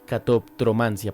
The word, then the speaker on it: catoptromancia: lo había escuchado sí Y es un poquito inclusive difícil de pronunciar catop cromancia por esa como se junta la p con la t catoptromancia para que lo busquen